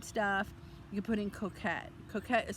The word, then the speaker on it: coquette: You can put in coquette. Coquette is spelled coquette.